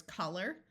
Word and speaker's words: color: helpful helps a lot this o is going to schwat and take on a short u sound and once again the o r at the end of a word will generally sound like eer so this word is color colorful something that is